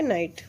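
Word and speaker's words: knight: नाइट मतलब यहाँ पे शूरवीर, के साइलेंट है नाइट.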